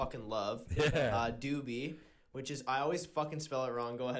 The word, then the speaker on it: Dubee3: there you go and you pronounce the three as an e like you know it's like Deadmau5 dead mouse yeah talk to me